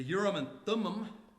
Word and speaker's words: Urim and Thummim: Some have suggested that the Urim and Thummim, that's how you pronounce it, was used.